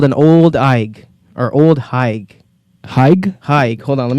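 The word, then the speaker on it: Ole Higue: Yeah, bro, it's spelled O-L-E space H-I-G-U-E. Old Haig.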